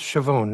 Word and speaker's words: Chavone: It's pronounced Chavone, right? Yes, it is.